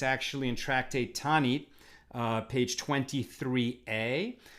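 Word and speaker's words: Taanit: It's actually in Tractate Tanit, page 23a. Tanis is the Ashkenaz way to pronounce it.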